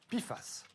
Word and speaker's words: PFAS: PFAS est l'acronyme anglais pour substances per- et polyfluoroalkylées, et ça se prononce PFAS.